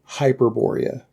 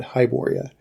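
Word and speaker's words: Hyperborea: yeah hibor yeah uh so the name of the game is actually hyperboria not hyboria more completely it's astonishing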